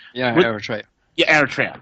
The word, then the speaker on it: Eritrea: It's us and a little despotic little country in Africa called Eritrea. I don't even know if I'm even pronouncing it correctly. Yeah, Eritrea.